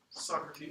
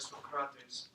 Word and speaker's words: Socrates: Socrates. Yeah. Actually, it's not how he said it. He probably said it more like Socrates.